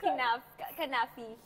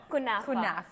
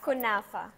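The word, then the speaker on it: kunafa: We say canfi it's so the right pronunciation is what kunfa kunfa you don't know you're shy to say I can eat okay all of this let's open.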